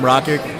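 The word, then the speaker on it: Rakić: How do you pronounce his name? Rakic.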